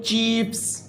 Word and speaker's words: chiefs: फिर है बच्चों चीफ्स, सरदार जो हमने पढ़े थे, इसमें आप देखें CHIEFS, इसमें जो ई है बच्चों आई के बाद, हम उसे नहीं प्रोनाउंस करते।